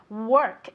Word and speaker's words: work: late very good okay careful with the pronunciation of work okay work it's spelled with an O but you pronounce it as if it were with an E okay work because if